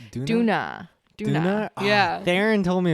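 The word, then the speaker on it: Döner: But what I was gonna ask is it pronounced dinner or donner? Duna. Oh wait, so it is that the same, like DONNER? That's what you had? It's like D-O with an the- umlaut.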